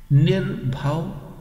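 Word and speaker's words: ਨਿਰਭਉ: Nirbhav, bhav means bhay. Bhay means fear. Nir means without, and bhay, this is how it is pronounced in Gurmukhi language, nirbhav.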